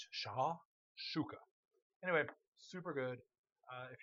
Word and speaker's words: shakshuka: It's uh that's the way it pronounced it. Sha shooka.